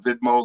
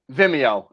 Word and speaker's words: Vimeo: helps you mount more if it's watched on vidmo than youtube i imagine right so you can